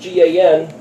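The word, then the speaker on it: גן: and you'll see that the words gone pronounced GaN is also that which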